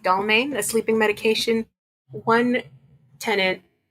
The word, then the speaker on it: Dalmane: There was tons and tons of bottles of medication, including, I believe it's pronounced Dalmane, a sleeping medication.